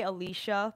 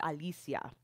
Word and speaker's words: Alicia: that's always pronounced wrong, people say Alicia because my name is spelled just like Alicia Keys, and typically it is said like that here in the States, but it's Alicia. So that's why I insist